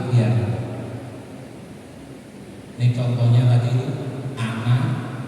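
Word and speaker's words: أنا: Tapi dalam ilmu baca Quran kalau anak itu dibaca pendek loh. Lek ora ngerti kan yo gak sesuai kaidah. Ana itu aslinya. Tapi kalau di Quran kita menemukan kata itu bacanya pendek. Wala ana abidumma. Enanya itu tulisannya panjang tapi bacanya pendek.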